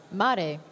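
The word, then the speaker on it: märg: What's the pronunciation? Sorry, Mari. Mari. Mare.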